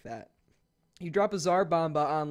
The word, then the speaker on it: Tsar Bomba: is the Tsar Bomba I know I said it right that time guys don't worry I'm saying it right now I didn't say it right I think I said to Tsar bomb by the last time this is the Tsar Bomba I was wrong but but thank you